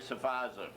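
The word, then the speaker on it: Sferrazza: The next man, 1976, a fellow called Frank Safaza. Frank's name... There's an old line. Frank's name, his last name is spelled S-F-E-R-R-A-Z-Z-A. The F is silent.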